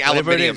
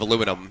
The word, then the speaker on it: aluminium: It's like the Brits saying aluminium instead of aluminum, you know? I say aluminium. I know you do. It's the British way.